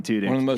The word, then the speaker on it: Tudyk: deserves more credit than he probably gets, Alan Tudyk. One of the most underrated I hope I actors.